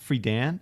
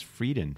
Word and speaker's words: Friedan: Is that how you pronounce it, Friedan? Yeah. I thought it was Frieden for no, some reason.